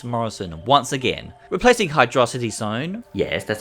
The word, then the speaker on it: Hydrocity: by Rob 1986 Morrison and once again replacing hydrocity Zone yes that's how you pronounce it this mod mixes the original act